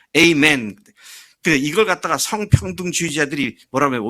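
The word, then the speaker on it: Amen: 끝에 가서 아멘 그러잖아요. 영어식 발음은 에이멘입니다. 영어식 미국식 발음은요. 에이멘.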